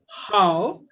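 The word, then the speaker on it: 好: The word is pronounced as how, which means good in Chinese.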